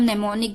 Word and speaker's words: mnemonic: सो नेमोनिक में M silent है, MNEMONIC, नेमोनिक।